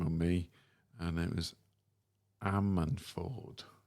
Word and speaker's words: Ammanford: I did collar a band, and I did struggle to pronounce their name. Shame on me. And it was Ammanford. Ammanford?